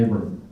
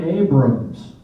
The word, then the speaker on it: Abram: of Mount Abram now you have to be careful about Mount Abram it's not Mount Abrams it's not named after a guy named Abrams it's named after a